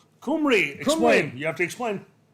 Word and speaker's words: Cymru: Cymru, Cymru, explain.